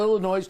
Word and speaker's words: Illinois: And Chicago is a perfect example, Illinois, of not dealing with it, giving in to the unions. You don't pronounce the S.